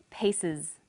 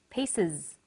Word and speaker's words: pieces: it the example was pieces pieces the S on the end is pronounced Z because it followed an S sound other examples are buzzes